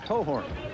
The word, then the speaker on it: Cochran: Cohorn. It's spelled Cochran, is pronounced Cohorn.